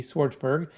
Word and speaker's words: Schwartzberg: And for my phonetically challenged people out there like myself, Schwartzberg, Schwartzberg.